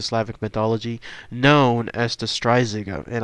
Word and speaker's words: Strzyga: mythology known as the stria and I hope I'm saying that correctly but again phonetically that's at least how it apparently is said so here's all the information